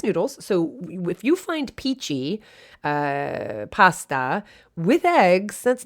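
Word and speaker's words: pici: we were in toscana is peachy p-i-c-i i don't know i just somehow the word the pronunciation is one of my favorite words peachy just and actually peachy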